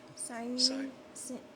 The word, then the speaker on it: Cyrene: Cyrene, Samson by name, him they compelled to bear his cross.